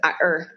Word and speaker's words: IRTH: It's IRTH. Yes, like birth, but with the, I'm like, I had to like see it in my mind and then spell it out. All right, we're going to take a she's a fantastic human. So I think that's great. Yes. Earth. It's, I think, birth. Without the B.